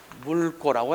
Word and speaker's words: 묽고: 물고라고 해야 된다. 리을 기억 다음에 뒤에 음절의 첫 소리가 기억이 오면 리을을 선택한다. 그래서 물고, 물감이 묽고, 알겠죠? 이렇게 돼야지. 물감이 묻고 하면 틀리게 된다.